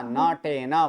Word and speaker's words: नटेन: तो नटेन नृत्यते। नटेन नहीं बोलना है, न पूरा, नटेन।